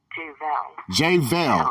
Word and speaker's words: JVel: So everybody, JVel, did I say that right? JVel or JVel? JVel, okay.